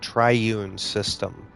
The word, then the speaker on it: Triune System: No, actually it's pronounced tri triune system just like you can find everywhere on social media, Facebook, Instagram, YouTube, and Twitch at Triune System.